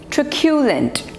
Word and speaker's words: truculent: Next word is truculent. Truculent. So the stress is on the second syllable.